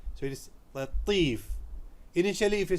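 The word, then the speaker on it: لطيف: Latif, the T letter here, Tif, T is a little, what do you call, emphasized here, so much heavy. So it is Latif.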